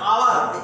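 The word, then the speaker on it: hour: ভালো করে খেয়াল করো, এইচ এখানে কনসোনেন্ট আছে, বাট এস কিন্তু এই এসটা কিন্তু এখানে উচ্চারিত হচ্ছে না। আমরা আওয়ার, এসকে বাদ দিয়ে আওয়ার থেকে উচ্চারণ করি, আমরা হাওয়ার বলি না, হাওয়ার বলি না, কি বলি আওয়ার, এইচ ও ইউর আওয়ার,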